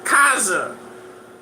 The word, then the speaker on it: Khazar: Why do you think you see him dancing with the Khazars in that video? Man, my fellow Edward, pronounce it correctly. Kaza. We pronounce it the way we like in there.